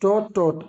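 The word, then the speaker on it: taught: Teach टॉ टॉट सिखाना। टॉट टी ए यू जी एस टी टॉट। टी से पहले जी H silent बहुत मर्तबा बता चुका हूं।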